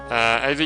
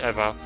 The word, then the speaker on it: Eva: Now I am of course pronouncing them Ava, even though it should be Eva. That's because of the dub. for the original series, and I'm following faithful to that, because it just sounds